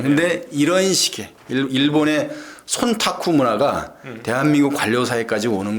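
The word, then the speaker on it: 忖度: 이거를 일본 말로 하면 손타쿠라고 그러잖아. 손타쿠. 한자로 하면 촌탁인데 그걸 일본 말로 하면은 손타쿠로 발음이 되는데 시키지 않아도 우리 총리께서는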